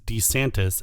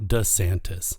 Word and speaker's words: DeSantis: course Dion D santis I recently discovered that the correct pronunciation is DeSantis and not DeSantis his beard and by